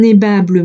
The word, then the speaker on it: aimable: Et on va donc dire le mot aimable en 3 syllabes.